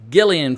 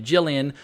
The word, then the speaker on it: Gillian: entire season it's a Gillian Flynn a hard G like Gil as opposed to Gillian so for that I